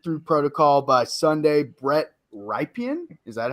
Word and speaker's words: Rypien: If he isn't cleared through protocol by Sunday, Brett Rypien, is that how you pronounce his name? Yeah, Rypien.